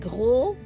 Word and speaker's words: gros: Okay, mignon, like adding a G, a letter G, and gros, the S is silent.